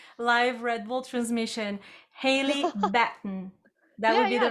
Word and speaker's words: Batten: your last name correctly baton bat like baton i'm so sorry okay so i don't say your name wrong in the live red bull transmission hayley batten that would be the